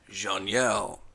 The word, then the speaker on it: Xenial: a l but I did look up the pronunciation and it's jeanelle a zerus x e r u s is